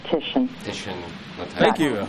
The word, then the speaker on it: Titian: You know how T-I says S-H? T-I sound says S-H.